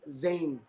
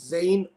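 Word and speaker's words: زاي: It's basically they are Sin, Sad, and Zain. Okay, the letter Zain, which in Urdu we pronounce it as Za, Za. Okay, but the actual name of the letter is Zain or Zay.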